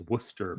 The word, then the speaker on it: Worcester: And I'm I'm glad they finally decided to uh pronounce Worcester properly. It's Worcester people, not Do you want me to play it, Dave?